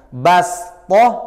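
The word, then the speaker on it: بصطة: ada pelajaran bastotan bastotan tulisannya Shad harus dibaca Sin maka cara bacanya Bagaimana bastoh apa bastoh bastoh Biasa saja bastoh tidak usah di gak usah ditebalkan gak usah diistillakan jadi langsung bas sama saja seperti anggap di sini adalah e shnya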